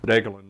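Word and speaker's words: Degelen: that tells all about Deelan Mountain that's how you say it Alan and uh it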